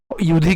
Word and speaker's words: যুধি: ইউধি কেন? যুধি হবে না, কারণ কি সংস্কৃত উচ্চারণের ক্ষেত্রে অন্তস্থ জয়ের উচ্চারণ কার মতো হয়? অন্ত্যেষ্টিয়র মতো হয়। তাহলে উচ্চারণ কেমন হবে? ইউধি।